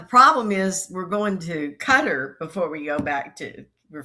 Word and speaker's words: Qatar: But the problem is we're going to Qatar before we go back we're flying to Qatar and then we're coming back to Cairo.